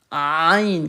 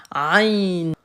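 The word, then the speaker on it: عين: Aïn, comme Aïcha. Aïn.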